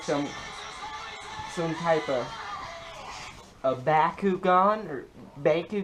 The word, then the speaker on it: Bakugan: expected looks like some some type of a Bakugan or Baku G Bakugan oh that's that's how you pronounce it I'm going to backu can it's